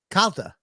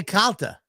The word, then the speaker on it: Calta: we're back I know I believe you say my name right still Calta Mr I say Calta it's a little better